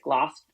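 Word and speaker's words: Gloucester: glou Glouster woman and we also got a correction on our pronunciation from another listener just FYI that's gloss gloss or so last episode we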